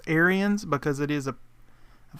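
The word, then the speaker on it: Ariens: in greenville tnc google it there's the iron aaron's icon well technically it's pronounced aryans because it is a i think they're from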